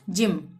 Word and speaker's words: gym: GYM, जी के बाद वाई, तो यहाँ पे भी ज का उच्चारण होगा, जिम।